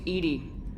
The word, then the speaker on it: EDI: airlock is a jar why are you named Edie Ed is the phonetic pronunciation of e di that is an acronym